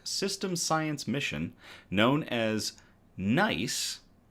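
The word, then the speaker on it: GNEISS: science mission known as NICE. It's it's spelled G nei, but it's pronounced nice. The G is silent.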